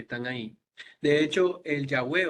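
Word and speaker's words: Yahweh: el Antiguo Testamento eh la pronunciación original parece haber sido yahwe y está formado por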